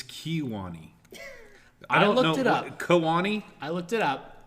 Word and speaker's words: Kewanee: Kewanee? I looked it up. It's pronounced Kewanee.